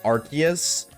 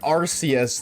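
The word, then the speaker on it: Arceus: And this just proves that it's pronounced Archus because if it's pronounced Arus, then we just scooped up the Ars phone.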